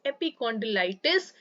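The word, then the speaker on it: epicondylitis: इसका जो प्रोनाउंसिएशन है दैट इज एपिकॉन्डिलाइटिस और ये होता है आपके टेनिस एल्बो को ही जाना जाता है लेटरल एपिकॉन्डिलाइटिस के नाम पे।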